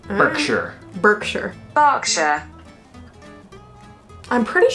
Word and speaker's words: Berkshire: got this all right Berkshire Berkshire box yeah I'm pretty sure it's not vogue sure is she's saying Berkshire Berkshire it's like with an a Berkshire if you are from